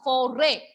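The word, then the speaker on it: forêt: Okay, here we are not pronouncing S here. Foray. No S sound.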